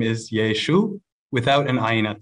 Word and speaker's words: Yeshu: have argued that the name of Jesus sounded more like yeshu or yeshu completely dropping off the final guttural letter because of a linguistic Quirk of a Galilean accent as the argument goes